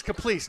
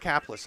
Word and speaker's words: Caplice: Yeah, it's Caplice, not Caplis. And I've called him Kevin Caplis for literally 10 or 11 years.